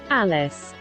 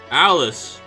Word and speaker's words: Alice: Alice. Alice. Basically like Alice in Wonderland.